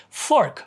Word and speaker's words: fork: pork pork pork pork f f Fork Fork Fork may I have a fork please oops that's pork take it back pork BBY Bobby sing